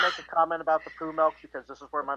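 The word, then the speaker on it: PoohMilk: The first one is poo milk, and it's not spelled like poo, like poop, poo. It's like Winnie the Pooh. Right, exactly. POOH milk.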